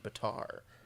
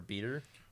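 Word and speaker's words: Betar: name is Timothy John Batar Batar Batar b-e-t-a-r or beater probably better oh that's spelled but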